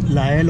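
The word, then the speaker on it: Lisle: असेल ते नेपरवेल स्टेशन हे जरी याचं spelling L आय एस एल एस एल इ असेल तरी याचं प्रोनाऊन्स लायल होतं आणि आपण नेपरविल स्टेशन सोडल्यानंतर हे आलेलं पुढचं स्टेशन लायल आणि आता आपण साधारण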